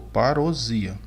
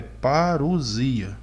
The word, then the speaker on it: parousia: Camilo disse: para início de conversa, a pronúncia da palavra é parousia, S com som de Z, com acentuação tônica no I.